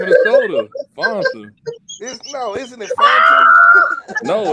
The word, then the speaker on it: Fanta: You gotta pronounce it with the long A, not the short.